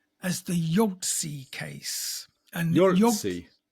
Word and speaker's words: Yogtze: And Yogtze? Yogtze. And it's spelled Yogtze.